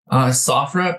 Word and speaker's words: SOFREP: SOFREP.